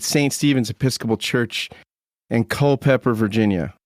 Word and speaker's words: Culpeper: Stevens's Episcopal Church in Co pepper Virginia Co pepper right is that the how I pronounce it yeah that's correct what what's in Co pepper tell me like what